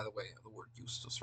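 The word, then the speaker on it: iustus: The J was pronounced like we pronounce a Y, like a Y. There's a lot of derivatives, by the way, of the word justus, right?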